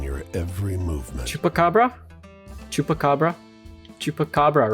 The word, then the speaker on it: chupacabra: eyes fixed on your every movement chupacabra chupacabra chupacabra right that's how it's pronounced take stock you now notice the unnatural